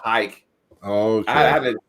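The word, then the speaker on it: Huycke: It's H-U-Y-C-K-E is how it's spelled. But it's pronounced hike.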